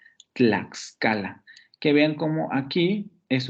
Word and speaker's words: Tlaxcala: La palabra Tlaxcala tiene dos consonantes tanto en el ataque como en la coda de la primera sílaba. Tlaxcala.